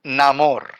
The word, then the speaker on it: Namor: I didn't think we were going to get Namor back. That's really No, cool. I didn't either. I believe it's pronounced Namor.